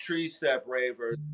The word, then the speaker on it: TreeSteppRavers: the quick thing is, it is 3-step, but they say tree in Jamaica, so it's ultimately the number 3. But the way I spell it is tree. So Yeah. it is TreeStepp Ravers, Ravers, Ravers.